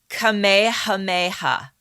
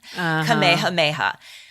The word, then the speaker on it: Kamehameha: with a king named give me a minute Kamehameha nice the first thank you I've been practicing that's why I was late getting on the zoom see I was practicing my pronunciation Kamehameha also known as KEH hameha the great he